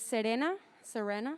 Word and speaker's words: Serena: My name's Serena, for those of you who can roll your R's.